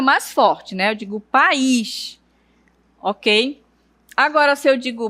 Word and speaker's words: país: No momento de você pronunciar a sílaba, você vai perceber que aqui no caso de pais, a sílaba tônica é pá e na palavra país é no a sílaba mais forte.